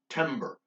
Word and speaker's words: timbre: timber this is pronounced timber not timbre timber say think of it as TEM BER and no you don't say it as in bar we're not a lumberjack